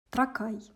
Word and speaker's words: Тракай: Тракай. В Википедии стоит ударение «тракай», но я буду говорить так, как я привыкла.